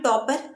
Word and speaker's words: Toppr: इस वेबसाइट का नाम है टॉपर। आप देख सकते हैं मैंने स्पेलिंग लिखी है TOPPR, यही इसकी स्पेलिंग है।